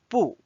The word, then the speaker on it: 不: Notice I read as 不.